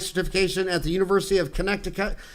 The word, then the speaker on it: Connecticut: at the University of Connecticut. I always say Connecticut, but I could only spell it in grammar school if I wrote out Connect, I cut.